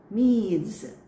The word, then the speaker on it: Medes: Yes, it is Medes. Medes. So silent E, the second E.